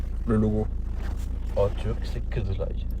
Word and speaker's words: Kızılay: En turc, c'est Kızılay. Kizlay. En turc, c'est Kizlay. Ouais, moi, on me l'a dit en turc. Je le prononce bien.